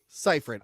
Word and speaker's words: Seyfried: Pronounce it for me. Seyfried.